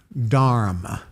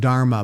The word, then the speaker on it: dharma: And he says, "Well, look at your dharma." Mhm. And we pronounce it dharma, but it's actually pronounced dharm even though the A is silent at the end.